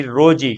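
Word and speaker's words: Rosie: याद रखना ठीक है अब रोजी की स्पेलिंग तो अलग होती है आर ओ एस आई ई होती है ना स्पेलिंग ये होती है लेकिन इसकी ये और इसको पढ़ा रोज ही जाता है ठीक है अब हम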